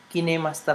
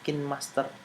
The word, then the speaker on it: KineMaster: kinemaster kinemaster Hai Amin bacanya cinemaster sesuai dengan penulisannya Kemarin saya sempat sebelum melihat salah satu tutorialnya saya membacanya kinmaster prokain Master ternyata baginya adalah gini Master Nah untuk mengedit dengan